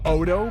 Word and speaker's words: Ado: Then Odo, produced by Giga and Telluloid, ramps the energy Otto's capable of to 11.